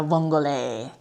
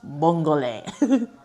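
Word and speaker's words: vongole: Ayun daw yung tamang pagkaka-pronunciation dapat nung bongole ng pasta bongole. Bonggole. Pinakinggan ko muna sa YouTube ' ba. Kaya yun kasi ang ang sabi ko nung una bongol hindi daw bongol.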